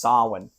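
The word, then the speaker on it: Samhain: Yeah, it's spelled Sam Hayne, but it's pronounced Sin.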